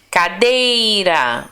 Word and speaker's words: cadeira: Cadeira, ó, cadeira. O dei é a sílaba mais forte.